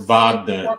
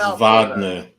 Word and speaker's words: Wagner: flance and we will Vagner it's Vagner they always say it wrong it's Vagner Vagner 8268 7 minutes left